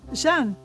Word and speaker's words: Jehane: Jean. Jean. Yeah. But it's spelled J E H A N E or whatever.